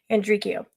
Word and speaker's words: Andreacchio: gonna go with that because it says English instead of Italian so that's when I picked andreco that's how I'm going to pronounce my last name you all heard me